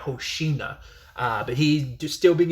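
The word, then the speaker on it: Hoshina: you have Hosa which I think I kept pronouncing Hosida. I kept saying Hosida instead of Hosa.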